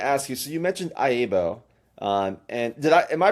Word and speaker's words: IAABO: I've heard it pronounced that way, but it's officially it's IBO. I just IBO. Just IBO. The IBO. A's are silent.